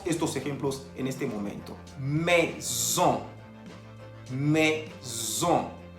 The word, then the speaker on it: maison: Maison. Maison. Se escribe M-A-I-S-O-N. Tenemos la presencia de la A-I que se pronuncia E y la O-N que se pronuncia ON. Por eso decimos maison.